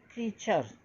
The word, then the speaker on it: creature: देखिए क्या लिखा है इधर, क्रीचर, CREATURE, ये इसका एक प्रोनाउंसिएशन है, क्रीचर। तो ये बोलोगे कैसे आप, आर क्या है बच्चे यहाँ साइलेंट, कम मतलब आप साइलेंट मीन्स क्या होता है यहाँ, जोड़ दे के नहीं बोलना है।